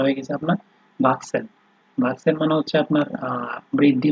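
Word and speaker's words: wachsen: এরপরে হচ্ছে আপনার সি, এইচ, এস, এগুলো যখন একসাথে বাক্যে আহ, ব্যবহার হবে, ঠিক আছে, তখন তার উচ্চারণ অনেকটা আপনার ওই এক্স আছে না, এক্স, ইংলিশে আমরা এক্স কোনো ইয়েতে সেন্টেন্সে তাইলে আমরা যেভাবে উচ্চারণ করি ওইভাবেই হবে, এক্স বা কে এস, এই দুইটা যে কোনো একটা বলতে পারেন।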